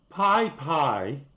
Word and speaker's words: PyPI: use Python but I never used it regularly Pi Pi that's how you say it suspends new user